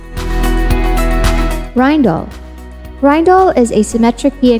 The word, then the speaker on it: Rijndael: against brute force attacks the correct pronunciation is rhine doll not regen dale or reindeer schema a schema